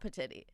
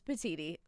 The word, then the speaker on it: Petiti: It is spelled Petiti. It is not Petiti. It is not Petiti. It is not Petits. Petites. It is Petiti.